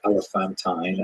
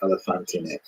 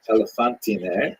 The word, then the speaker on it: Elephantine: Now, I always pronounce that, by the way, Elephantine, until I looked a little more carefully, and I think it's supposed to be pronounced Elephantine.